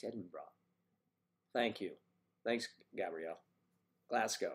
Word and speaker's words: Edinburgh: Pronounce Edinburgh, please. Yes. Oh, hello, it's Edinburgh.